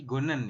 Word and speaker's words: 걷는: Gonen, ini dibacanya bukan Gotnen tapi Gonen ya.